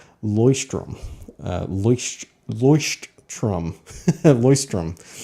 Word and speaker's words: Leuchtturm: name and he said it's actually pronounced Loy strim least voiced trum voice